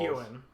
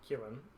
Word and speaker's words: Keoghan: Keoghan is how you pronounce his name. Oh, really? I know that because blank check. Yeah. All right. Keoghan? It's Barry Keoghan. Keoghan. Keoghan? Keoghan. Keoghan? Because it starts with K. Like Key and then Ewan?